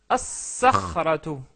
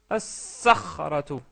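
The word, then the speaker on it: الصخرة: Ça devient as-sakhratu, as-sakhratu. La lettre sad est une lettre solaire. Donc on rajoute la shadda et on ne prononce pas le lam.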